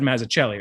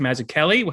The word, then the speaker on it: Mazzucchelli: I don't really want to get on I said Mazzucchelli. It's Mazzucchelli.